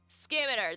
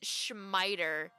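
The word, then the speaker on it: scimitar: Is it Skimitar? Skimitar, that's how you say it. Oh! I was watching a YouTube video a few days ago, and I mean, I know I took a minute to remember how to say it, but the guy in the YouTube video pronounced it Schmiter.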